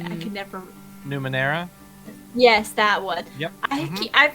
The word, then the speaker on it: Numenera: say i could never numenera yes that would yep i've been saying it numero in my head and i actually looked at how it spelled it was like crap i've been saying it wrong we uh i ran